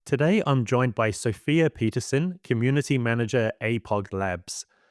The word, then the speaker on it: Sofia Pettersson: Yeah, so it's a Swedish name, so it's pronounced in Swedish. You say Sofia Pettersson, but it's fine.